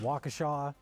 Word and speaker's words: Waukesha: Which, of course, anyone doesn't know, it's pronounced Waukesha.